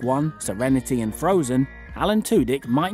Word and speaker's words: Tudyk: oh him for Alan tck otherwise pronounced as tck is the proper the liquid U is the appropriate as I was taught in drama school um but tudk is also appropriate but